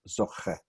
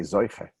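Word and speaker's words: זוכה: we call yeshivish language, zoche, modern Hebrew, with Sephardi stress, zoche. Ashkenazim would say zoiche.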